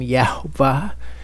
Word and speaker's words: Yehovah: Today I'm going to look at why we use the name Yehovah and we don't use the name Yahuah, and why in fact we think that it's categorically incorrect to use the name Yahuah.